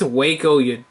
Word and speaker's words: Waco: Is that Wacko? That's Waco, Yeah, the Waco, Texas.